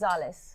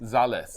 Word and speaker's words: Zalles: before I proceed um z-a-l-l-e-s how do you pronounce that it's Zales Zales yeah okay um the previous owner was Reynolda